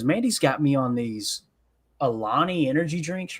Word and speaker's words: Alani: Yeah, it's Alani.